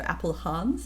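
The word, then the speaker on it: Appelhans: Chris Apple Hans. It's like Apple A P E L and then H A Ns. So, Apple Hans is how I would say it.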